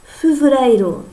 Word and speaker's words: Fevereiro: Fevereiro.